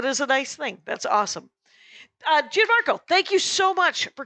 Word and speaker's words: Gianmarco: Gianmarco. It's not Gian. I want to Italian it.